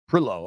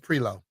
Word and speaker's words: Prioleau: Sounds a little Cajun-ish to me. Prilo, okay. Just Prilo.